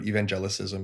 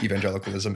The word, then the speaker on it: evangelicalism: I've had a lot of people ask me about evangelicism, and I just pretend that they said evangelicalism and go from there and then slip in my pronunciation of the word, which is evangelicalism, as I go, and